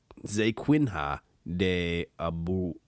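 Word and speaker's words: Zequinha de Abreu: in present positions to read names i can't pronounce zay quinn ha de abu first name was z-e-q-u-i-n-h-a day abreu a-b-r-u-a-b-r-e-u anyhow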